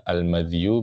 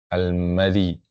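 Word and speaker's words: المذي: Nah, makanya dia bisa dibaca almadzyu, bisa dibaca almadzi ya. bisa madu, bisa madzi. Ya, ada dua cara baca.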